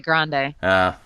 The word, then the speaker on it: Grande: whatever her name is she pronounces it grande ah like a Starbucks cup she's throwing out some